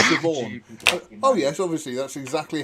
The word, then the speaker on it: Siobhan: my from favourite Ireland pronunciations is Siobhan, because it's spelt Sabiohan. And the first time I saw it, I was going, Sabiohan? What the hell's name is that? Sabiohan? And somebody said, it's Siobhan.